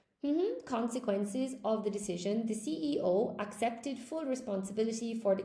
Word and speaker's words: CEO: When you say this thing in English, we have to pronounce all of the letters, okay, guys? In English, you have to say the CEO. You can't say SEO.